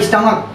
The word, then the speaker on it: stomach: लेकिन यहाँ देखिए इसका प्रोनाउंसिएशन होता है स्टमक, यानी कि यहाँ पर का साउंड आ रहा है, चा का साउंड नहीं आ रहा, जबकि हम लोग जानते हैं कि CH का हिंदी चा होता है।